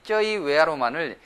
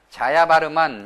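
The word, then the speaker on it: ជ័យវរ្ម័ន: 그 다음에 또 우리 한국 분들은 영어로 이 쩌이웨아로만을 자야바르만 이렇게 발음하는데, 자야바르만이 아니라 쩌이웨아로만 이렇게 발음하는 것이 좋을 것 같습니다.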